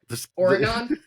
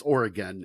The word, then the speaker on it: Oregon: oron I think you're I think you're leaning a little too hard on the on I think it's Oregon is more the man if someone if someone uh I think you know if we're going to be humble and accept uh uh this criticism I think we should at least acknowledge like the states pronounced Oregon uh so so you're